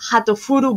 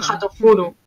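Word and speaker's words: はーとふる: Hatofuru es la forma japonesa de pronunciar tanto hurtful, que es así como sentimental, como hurtful, que es hiriente, ¿no? Uh-huh. O sea, se escribe diferente, digamos que lo escriben en inglés distinto, pero ellos lo pronuncian Hatofuru.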